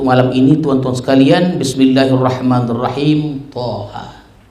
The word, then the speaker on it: Thaha: ini tuan-tuan sekalian Bismillahirrahmanirrahim Thaha begitulah cara bacanya jadi Thaha ini dia